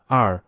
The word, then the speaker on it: 二: The second syllable in eel strongly echoes the pronunciation of the Chinese number 2, r, represented by 2 horizontal strokes.